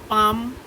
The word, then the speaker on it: palm: এই সিরিয়াল যে সিডগুলো পাম and millets পাম হ্যাঁ লাভ আরে এম তো প্লাম হ্যাঁ PLM তো না কি লেখা PALM পাম ওখানে এলটা তোমার সাইলেন্ট থাকবে হ্যাঁ হ্যাঁ পাম অ্যান্ড